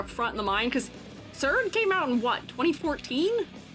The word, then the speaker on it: Xrd: Xrd, you're saying it right?